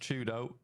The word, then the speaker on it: 4YDO: 4YDO is pronounced Chudo. So if you hear me talk about Chudo, it's that guy.